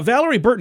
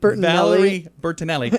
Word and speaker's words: Valerie Bertinelli: with his ears i have no idea uh valerie burton allery is learning to i think i said her name wrong valerie bertinelli is learning to ignore her inner critic her